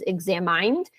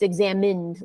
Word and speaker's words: examined: it it might be tempting to try to pronounce it as examined but once again one of these English memorization things it's just uh it's examined like like like I guess you say the